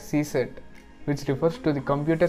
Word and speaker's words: CSIRT: know what is csart the csiat is pronounced as C set which refers to the